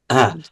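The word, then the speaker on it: ひゃ: মানে হ্যাঁ, এটা হিও না, এটা এটা বলবেন হিয়া। এটা HYA, হ্যাঁ, উচ্চারণ হবে বাংলা, ইয়া, বাংলায় তো হিয়া।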